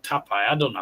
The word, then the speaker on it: Taipei: Tap is taipe not tap. Are you the I thought it's called tapai. I don't know how to pronounce it. Oh, I don't know how to pronounce it, mate. Taipei.